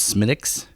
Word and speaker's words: Smithwick's: Patrick's Day mhm and we talked about this one with Schmitt ik's yes that's a red smell it's spelled Smithwick's yes right called Smith yes don't call it that if you had an